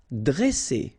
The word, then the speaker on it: dresser: Okay, same thing here. Vowel, vowel, double S, so you pronounce it really strong like S. Okay, dresser. And then when you've got a double consonant after a, you open the sound of the so it will be like e, dre, dresser.